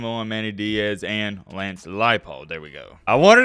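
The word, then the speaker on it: Leipold: you got Lance lipold that's how you say it right lipold I always when I see it I want to say leopard but no no no it's lipold but yeah anyways look at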